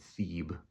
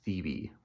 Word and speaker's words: Thebe: I was pronouncing it Thebe, but I guess apparently it's pronounced Thebe.